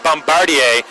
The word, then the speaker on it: Bombardier: season for Lucas Bombardier which by the way I've heard it pronounced at Bombardier by Knoxville's broadcaster last night so that's what we'll go with will go with Bombardier if I can remember